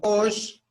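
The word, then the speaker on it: ox: De Osh, porque tiene el acento en la O, se le pronuncia un poquito más fuerte, ¿no? Osh.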